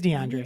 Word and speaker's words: DeAndre: Am I saying it right? I think so. DeAndre Hopkins? Why does it sound wrong when I'm saying it? I don't know. It is DeAndre.